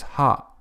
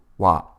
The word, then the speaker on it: は: It is written as ha but is pronounced wa.